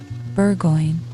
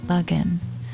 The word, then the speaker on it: Bergoin: a famous foxhound named bergoin he pronounced it Bugan which my informant used